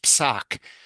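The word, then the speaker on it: פסק: Yeah, and that's usually pronounced psak, even though Psak. grammatically it doesn't work that way in Hebrew, but it does in Yiddish.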